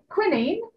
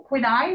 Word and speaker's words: quinine: This is quinine, or quinine, as they pronounce it in this country, which is found in tonic water.